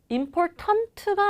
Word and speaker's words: important: 그 다음 우리 중요한은 important가 아니라 어떻게 발음돼요? important. important.